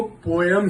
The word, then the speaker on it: poem: Says कि पोयम को पोयम ही बोलते हैं, प्रोनाउंसिएशन में POYEM, पोम नहीं है। आजकल पोम लोग कहते हैं, ठीक है, to each is ओन, बट the right thing is पोयम।